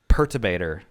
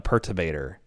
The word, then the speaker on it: Perturbator: Perturbator.